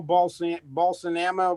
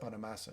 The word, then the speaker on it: Bonamassa: Well, he plays a certain style of pentatonics, like Joe Balsanama, whatever the guy's name is. Bonamassa. Yeah. Bonamassa. I can't pronounce his name.